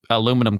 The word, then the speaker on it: aluminum: Like either he's making nuclear reactors or he's picking up aluminum cans on the side of the road.